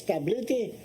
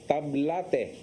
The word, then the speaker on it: Tablete: Let's continue with our momentum with Sir Alex Tablete. Is that the correct pronunciation? Tablete or tablet? Tablate. Tablate. Ha?